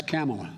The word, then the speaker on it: Kamala: do you pronounce it first you say comma like a comma in a sentence then you say la like la la la la la put it together and it's 1 2 3 camela all right so let's